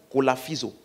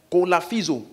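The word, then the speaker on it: κολαφίζω: Souffleter là c'est le mot kolaphizo. K-O-L-A-P-H. P-H-I-Z-O. Kolaphizo. Ça s'écrit vraiment comme ça.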